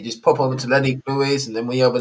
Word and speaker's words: Louis: People always like Lewis, and I'm like, you know what? There will be a day where everyone will say my name properly It's and true, say right. Louis.